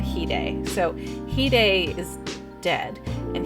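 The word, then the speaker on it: hide: singer there's there's two there's Hyde and heday so heday is dead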